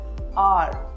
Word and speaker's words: hour: Honest, are, honor. Letter H is silent in all these words.